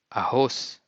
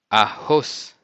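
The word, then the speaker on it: arroz: a horse a horse note that when you have twice the letter air together you pronounce like ha ha in some parts of Brazil they also use the two air togethers like a little bit more with a Spanish accent but you can use both and mostly of the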